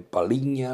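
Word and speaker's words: Palhinha: paigna en portuguesa dice yo hago paliña bien pronunciado gente le dice palinha le dice yo es palinha palinha que juegan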